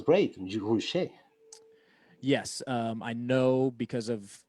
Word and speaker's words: Roueche: Roueche is how I pronounce it.